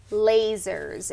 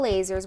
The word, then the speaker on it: Lasur: Okay, she's saying lasers. It's spelled Lasur.